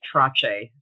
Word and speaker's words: Trottier: It's usually pronounced Trache, so Trache.